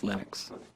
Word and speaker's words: Linux: But Linux is always Linux.